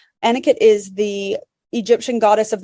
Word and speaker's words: Anuket: And I should mention Anuket, well, it's spelled Anuket. Anuket is the Egyptian goddess of the Nile River.